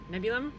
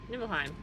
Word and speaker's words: Nibelheim: Nebulum? Nibelheim? Nibelheim, sure.